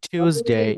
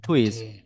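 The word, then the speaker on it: Tuesday: আমরা টুইসডেও বলতে পারি অথবা টিউসডেও বলতে পারি টিউসডে নট টুইস টিউসডে টিউসডেস এন্ড এই ওয়েনসডেড গুড আবার বলেন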